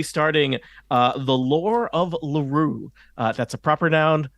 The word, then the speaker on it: Lurue: we will be starting uh the lore of LaRue that's a proper noun not a not a